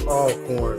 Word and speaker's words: Alcorn: see uh mr murray says it's pronounced all corn so i appreciate that i appreciate it yeah alcorn sounds like it's